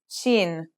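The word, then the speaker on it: شين: letter we learn is chin this one is pronounced just like the English sh in the word shovel this one is very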